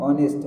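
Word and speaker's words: honest: नेक्स्ट है गैस एन ऑनेस्ट गैस, यहाँ भी एच तो सामने में है लेकिन उच्चारण होगा ऑनेस्ट।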